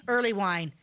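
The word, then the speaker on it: Earleywine: wine oh my God how do you spell that e a r l e y w i n e oh just like it sounds yep yes just but early wine will throw you way off Hill wasn't better what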